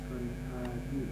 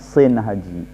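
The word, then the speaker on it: Shinhaji: eh bin Daud Heeh Son Haji ahah ini perhatikan ini banyak yang membacanya Son Haji banyak yang ngebacanya Son Haji padahal itu bacanya Sin haji Sin Haji Sin haji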